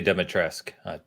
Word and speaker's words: Dimitrescu: If you pronounce the U in the game, they say Dimitrescu.